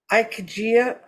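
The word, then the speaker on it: ikigai: for it in Japanese it's called I think ikejia anyway it's i-k-i-g-a-i I don't speak Japanese but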